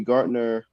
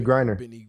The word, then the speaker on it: Griner: start with the brittany gartner how do you say our last name garner brittany griner we're gonna start with